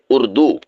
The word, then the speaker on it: اردو: اور دوسری کلاس میں، وہ لفظ ہے اردو، یعنی رے کے ساتھ، نہ کہ رے کے ساتھ۔ تو آپ نے اس کو رے کے ساتھ پڑھنا ہے، اردو۔ تو اردو زبان کا